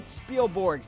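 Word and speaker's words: Spilborghs: one out for Ryan spiel borgs that's a silent h in there at the end a three-run blast his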